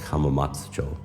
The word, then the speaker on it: Hamamatsucho: So instead of like saying like Hamamatsucho station, you say like Hamamatsucho. So it's like that kind of thing, because there is no like ah sound in Japanese.